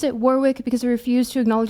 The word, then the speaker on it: Warwick: war uh it's pronounced Warick. I pronounce it Warwick because I refuse to acknowledge that the UK cannot remember to pronounce the extra W in the word.